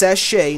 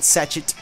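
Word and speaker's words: sachet: it evolves into um it's pronounced sachche not satchet um so yeah sachche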